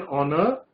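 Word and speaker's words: honour: तो इट is dash ऑनर, ऑनर की भी जो ध्वनि बन रही है, पहली ध्वनि किसकी है, ओ की, एच इसमें भी साइलेंट रहता है. तो इट इज एन ऑनर टू get first class.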